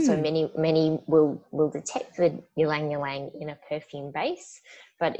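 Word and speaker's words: ylang-ylang: The next one is ylang ylang. Is that the correct pronunciation? Ylang ylang, yes. Yes.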